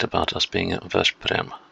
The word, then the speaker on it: Veszprém: Not Veszprém. Veszprém. I keep forgetting the pronunciation rules of Hungarian. They are a bit backwards too.